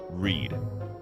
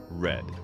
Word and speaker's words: read: Take the word read, for example. Present tense, read. Past tense, read.